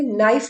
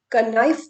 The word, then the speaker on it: knife: आप इसे नाइफ बोलेंगे, कनाइफ तो नहीं बोलेंगे।